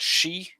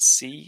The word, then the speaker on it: she: When you said she, you said it with an S sound instead of an SH sound. So you said C instead of she.